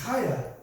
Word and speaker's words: Chaya: It's Chaya. CH is pronounced Ch."